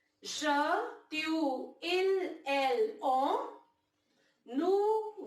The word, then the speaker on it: je: We pronounce it as je.